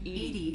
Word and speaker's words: EDI: why are you named eddie is the phonetic pronunciation of edi that is an acronym where are you my